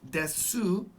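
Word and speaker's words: です: looks like it's pronounced des. And just like this last one, uh, that is silent. The final u sound is silent.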